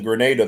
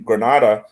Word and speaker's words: Granada: the resistance was in grenada though we know that in the south yeah the kingdom yeah well it's pronounced uh yeah that's right it's pronounced granada in spanish so in in granada